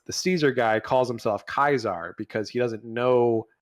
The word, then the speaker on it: Caesar: Caesar guy calls himself kaisar because he doesn't know how he's never heard how Caesar was properly pronounced so it's kaisar Legion yeah sure um